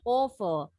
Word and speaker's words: awful: Awful. Au bacanya o.